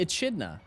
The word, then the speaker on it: echidna: what is Knuckles the Echidna echidna e-c-h-i-d-n-a right enchilada pronounce this k no ch next time I say